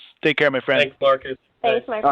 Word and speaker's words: Marques: You can follow him on Twitter at Marques, Marquess. Probably not how you thought you were going to spell that, Eversoll. Michelle was asking, how do I pronounce his first name again? I said, it's Marques.